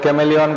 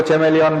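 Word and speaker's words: chameleon: खास करके मैंने कहा था कि देश भर के कॉन्वेंट स्कूल की जितनी भी मैडम है वो कैमेलियन को चेमेलियन बोलती हैं तो सिलेंट्रेटा को कोइलेंट्रेटा बोलते हैं।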